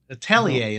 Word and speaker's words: atelier: really gotten into theier atellier atellier is what I was told I was corrected there we go soier correct pronunciation yeah listen if you say